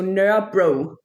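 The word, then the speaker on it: Nørrebro: So Nur bro. Okay. Yeah, we've got the bros around Copenhagen. Bro, Nur bro was surrounded by.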